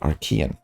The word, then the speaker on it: Archean: jumping to Aran and I looked it up that's how you say it Aran according to Google so anyways I'll probably say arcan at some point but it is Aran supposedly we don't know whatever